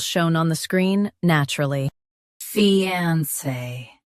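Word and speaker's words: fiancé: Fiance. Say fe then on and finish with say.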